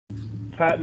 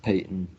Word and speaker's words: Peyton: is today for you patton are you catching up okay uh yeah i'm doing just fine okay also what's it called uh my name is pronounced payton oh i'm sorry peyton